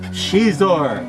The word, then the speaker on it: Xizor: is a Star Wars character this is Prince shizor and that's spelled x-i-z-o-r I kid you not now if